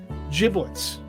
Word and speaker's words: giblets: Giblets. So it's giblets with a J.